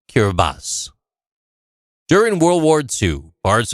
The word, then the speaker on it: Kiribati: regained its independence and changed its name to kiribati the name kiribati is the local translation of gilberts in the local language kirbati is pronounced kirbas during world war ii parts of karabadi were